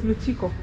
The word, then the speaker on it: Lukiko: Oh, you not Lukiko, it's Luchiko. You pronounce it as Luchiko.